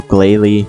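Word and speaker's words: Glalie: so yeah so glaily rhymes with 80.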